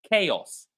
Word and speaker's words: chaos: This word is pronounced as chaos. Chaos. So that's how this word is pronounced. You can notice that here on the top of the screen the ch is pronounced as k, right?